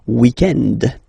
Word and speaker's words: weekend: Normally, in France, we tend to use this le weekend. So if we're talking about the weekend, okay, but then pronounce it the French way, weekend.